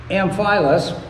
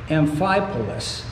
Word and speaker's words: Amphipolis: companions had passed through amphilas and i can never pronounce this word amphipolis is what it is it's amphilip m5 police